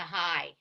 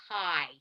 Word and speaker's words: high: think yeah neighborhood so so what sound does the IG make in high hi it's like I yeah how about light light